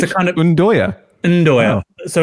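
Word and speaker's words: 'nduja: Because it's pronounced Ndoya, by the way, Michael. It's a kind of Ndoya.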